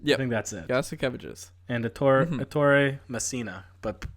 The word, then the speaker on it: Ettore Messina: And Ettore Messina, but pronounce it in an Italian accent.